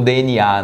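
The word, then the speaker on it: DeNA: O que eles vão fazer agora nesse anúncio dessa semana, que foi uma parceria com uma empresa chamada DNA, né? Como DNA, né? Que se pronuncia.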